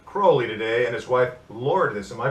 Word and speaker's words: Lourdes: with L Luke Crowley today and his wife Lord this am I pronouncing that correct yes all right now now